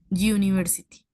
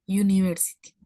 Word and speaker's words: university: Recuerda que este sonido es consonántico. Sonido consonántico. Suena como university, university.